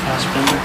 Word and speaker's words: Fassbinder: I love Fassbinder. I don't even pronounce his name right. That just shows you it's Bender. It's not Binder.